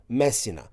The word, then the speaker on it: Messina: to the city of Messina or in Serbian accent: Mesi-na Aeolian Islands are also